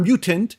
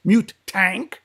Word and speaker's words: Mutank: In Montreal, it'll be Mutank. Not mutant. Mutank and Zero Tolerance.